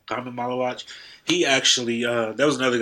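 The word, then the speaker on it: Khaman Maluach: So I'm about to say his name all wrong, but Kaman Maluach. How do you say his name? Common Malawach, yeah. Kaman Maluach.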